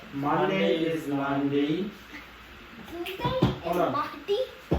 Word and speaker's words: lundi: Monday is Lundi. Monday is Lundi.